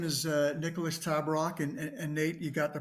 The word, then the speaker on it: Tabarrok: So my name is Nicholas Tabarrok, and Nate, you got the pronunciation perfect.